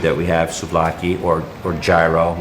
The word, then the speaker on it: gyro: And you find that in probably the most famous street food that we have, souvlaki or gyro. You would pronounce it gyro if you were Greek, not gyro.